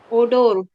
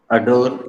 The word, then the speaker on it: odour: अडोर is correct और ओडोर is correct.